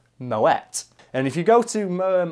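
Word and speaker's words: Moët: you one thing though it's pronounced Moet common mistake and I'll get it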